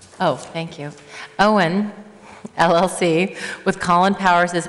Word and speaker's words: EON: of EON, is that the right way to pronounce it? Owen. Oh, thank you. Owen LLC, with Colin Powers as manager, for a